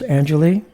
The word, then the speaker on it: Anjilee: and by the way your your name is pronounced Angelie Angelie yes Angel okay and and also I